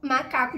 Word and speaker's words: macaco: já tinha usado anteriormente na palavra macaco para descobrir a sílaba tônica sílaba forte da palavra primeiramente eu vou cantar a palavrinha por exemplo marca macaco descubro que a sílaba tônica é né de novo a marca macaco a sílaba forte é cá a sílaba alongada né então muito simples